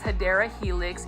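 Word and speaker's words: Hedera helix: this is everybody's favorite this is a HRA helix or the correct way to say it is hadera Helix English ivy so if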